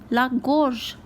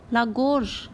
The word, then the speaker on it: la gorge: Throat is called la gorge, la gorge.